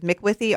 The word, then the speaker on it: Macwithey: Yes, Macwithey.